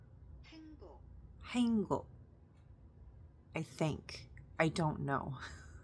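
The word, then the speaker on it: 행: I can't pronounce this so it's like hang is it the G because it the way it's romanized it's h a e n g b o k and I know that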